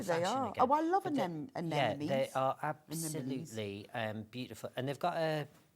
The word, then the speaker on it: anemone: The only way I can remember how to pronounce it is to say anemone, and then you get the M's and the N's in the right way. Yeah. Anemone and then anemone.